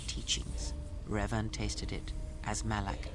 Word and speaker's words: Malak: rev tasted it as malak did malac it's malik but you know we